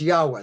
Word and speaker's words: Yahweh: But it's Yahweh. That's how we pronounce it.